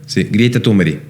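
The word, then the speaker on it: Greta Thunberg: se llama stop Ecos greta grieta tumber porque así se pronuncia en su país de origen Esa esa Cómo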